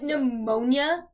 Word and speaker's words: pneumonia: and you know like pneumonia like why does it have a p why does it have a silent P why does knife have